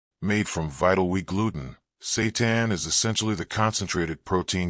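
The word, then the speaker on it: seitan: If you've never heard of Satan, pronounced Satan, you're not alone.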